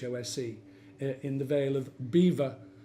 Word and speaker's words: Belvoir: in the Vale of beaver spelt Belvoir but definitely pronounced beaver said own and he